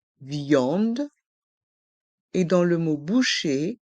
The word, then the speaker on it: viande: est mué dans le mot viande VI en de il y a le son I et le son en viande et dans le mot